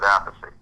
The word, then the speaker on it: Appice: Just call the album and the show, spell it out, Appice.